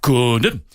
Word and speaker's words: Condom: No, it is Jean Condom. Right, yeah, and everybody, and all the commentators all around the world were going, Condom, or anything to not say condom.